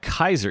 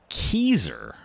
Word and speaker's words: Keezer: Oh, and I said Kaiser. It's Keezer.